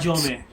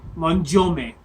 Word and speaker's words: Manjome: In the anime, Japanese, his name was, if I remember right, Manjome, which is supposed to rhyme with thunder or sound like that.